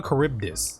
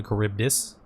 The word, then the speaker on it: Charybdis: to do so okay it's called a charybdis by the way you all have been pronouncing it wrong this whole time it's called a charybdis and so I appeal